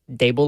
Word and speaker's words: Daboll: I think some people say like deb. Well, we were I was saying that yesterday, but not today. Uh D is I believe uh how it's pronounced. You know how our show is. D like table. Dable like table.